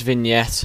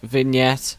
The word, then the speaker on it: vignette: even pronounce this one I think it's vignette I think that's how it's pronounced but I always say vget for some reason sorry